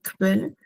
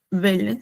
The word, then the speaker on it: Quelle: Casi como en español, pero esta Q, U se pronuncia como una K, B chica, ¿no? Quelle, y se pronuncia bien la K, no es Quelle, sino, por ejemplo, en este caso sería Quelle, se pronunciaría así, Quelle.